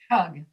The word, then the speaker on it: tug: You're saying the vowel sound right, but you weren't putting air after the T. Tug, tug, tug, tug.